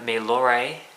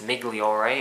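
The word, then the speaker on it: Migliore: peacock field um Peter milore I I believe I don't think it's migor it's spelled that way but I think the g is silent so we'll go with that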